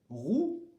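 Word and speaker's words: roux: leçon est différent ici on ne dit pas le x donc ça fait roues les féminins rousse rouge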